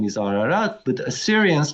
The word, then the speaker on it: Ararat: So it's a political issue, and I think Armenians should stop using term Urartu and call it by its real name, Ararat.